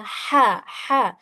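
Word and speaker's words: ح: Jadi, huruf H kecil itu cara membacanya adalah ee halus ya. Ha ha ha. Dan seperti ada hembusan napas halus atau desahan sedikit.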